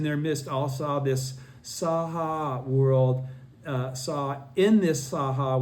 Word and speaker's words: Saha: the Saha world, and I keep saying Sahe out of a habit because I was mispronouncing it for a few years. Saha world, the innumerable Buddhas